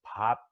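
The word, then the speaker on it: 밥: You know, so instead of saying like the word for rice is pop, so there's this H sound in there that's very hard for other people to say. Because so if you can't say it, you'll just say bap. You'll go bap. You know, you go bap, but it's pop.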